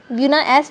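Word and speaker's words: Buna-S: ब्रूनो एस जो है ऊपर नाम है, ब्रूनो नहीं है, ब्यूना एस जो है वो which is formed by polymerisation of किसका, ब्यूट 1,3 डाइईन के कम्बिनेशन से बनती है.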